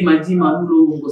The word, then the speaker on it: Madima Moulongo: J'ai dit Madima Moulongo, c'est ça, j'ai bien prononcé. C'est comme cela qu'on prononce en Kikongo.